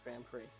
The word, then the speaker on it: Grand Prix: The X is silent. It's Grand Prix.